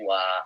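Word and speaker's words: は: Perhatikan ketika partikel H dibacanya bukan H tapi wa. Makanya saya Andre bukan watashi. Ini kan watashi H Andredes tapi watashi wa. Karena H ketika jadi partikel dibacanya wa.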